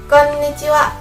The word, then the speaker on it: konnichiwa: Konnichiwa. Konnichiwa. Double N ya, konnichiwa.